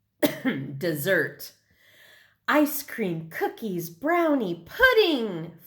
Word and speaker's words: Mount Desert: from a guide book Southwest Harbor is on an island called Mount Desert she pronounced it dessert ice cream cookies brownie